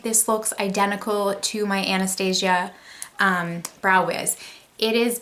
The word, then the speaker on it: Anastasia: I want to say Anastasia, but I know that Norvina pronounces it Anastasia, so I'm going to try to pronounce it properly.